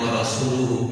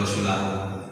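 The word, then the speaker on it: وَرَسُولُهُ: Ini yang benar bacanya wa rasuluhu pakai dhammah. Lihat biar kita tambah yakin. Nanti saya jelasin kenapa wa rasuluhu bukan wa rasuli atau rasulahu.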